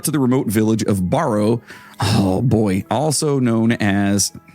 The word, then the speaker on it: Barrow: the remote village of Barrow. Oh boy, also known as it's Barrow, not Borrow.